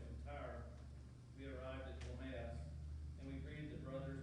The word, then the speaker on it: Ptolemais: I had to look it up because that's not how I would have pronounced it. It's Ptolemais. When we had finished the voyage from Tyre, we arrived at Ptolemais, and we greeted the brothers and stayed with them for one day.